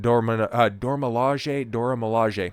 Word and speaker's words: Dora Milaje: go ahead and bring in the most prominent Dora Milaje.